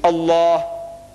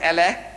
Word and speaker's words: Allah: make an effort it is not Al it's Allah not Al is Allah say Allah Allah so when I